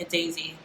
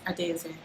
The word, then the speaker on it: Adaeze: i was like guys my name's not a daisy it's a daisy and my phone my